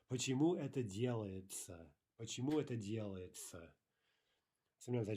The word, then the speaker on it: делается: By the way, would Russians ever say делается? Right? Would they ever pronounce that word as it's written?